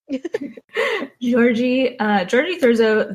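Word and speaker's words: György Thurzó: Georgie spelt with a two Y's. G-Y-O-R-G-Y. Sounds like orgy. Georgie Thurzo, that he is in charge of the family now.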